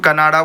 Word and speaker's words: कन्नड़: मैं कन्नड़ प्रोनाउंस करता हूं। आप कनाडा बोल दो, कन्नड़ बोल दो।